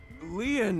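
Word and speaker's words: Lin: what I'm saying destined my name lean is spelled l i n in French lean means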